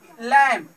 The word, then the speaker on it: lamb: ठीक है, COMB, एम के आगे बी है तो क्या है, साइलेंट है, इसे काम बन नहीं कहेंगे, बी का उच्चारण नहीं करेंगे। जैसे कि लैम्प, इसे लैम्प पढ़ेंगे।